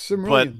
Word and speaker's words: Cimmerian: I know I screwed up pronunciation, but no, you got it exactly right. All right, it's Cimmerian.